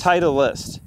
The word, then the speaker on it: Titleist: Titleist. Titleist. Three syllables.